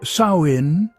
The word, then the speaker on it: Samhain: cold night of winter, was the festival of Samhine. Pronounced sawin, its name meant summer's end.